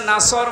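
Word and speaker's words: نصر: হয়েছে এখানে সোয়াদ আছে নাসর মানে সাহায্য আর নুন সিন র নাসর মানে ইগল পাখি আপনি যদি মুখটা গোল করে শুদ্ধ করে উচ্চারণ না করেন অর্থ আকাশ পাতাল পাল্টিয়ে যাবে আল্লাহ পাক বলেন হে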